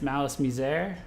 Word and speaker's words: MALICE MIZER: friends who are really into them that it's malice miser uh so i'm i'm not uh so yeah